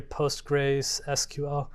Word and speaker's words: PostgreSQL: So you can see down here PostgreSQL. The way you pronounce that aloud is Postgres, just so you know.